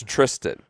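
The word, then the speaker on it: Thriston: Like, for once and for all, it's Tristan. Pronounce it right tonight. So we're here off the bat saying Thurston is T2 Thurston at 3 under.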